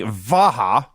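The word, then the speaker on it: Vajda: versus glenn ruth and i believe was pronounced tony vaha well that's how vince pronounced it so god knows how it was really pronounced well it was spelled v-a-j-d-a and you can pronounce it however you want to i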